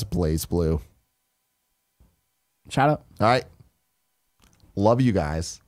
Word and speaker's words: BlazBlue: and then about says blazblue is pronounced as place blue China alright love you